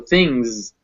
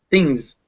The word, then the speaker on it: things: it's things things yeah so this word is written with that s at the end but it's actually pronounced with a z so things things and it's that ng fused together into that one sound things oh so do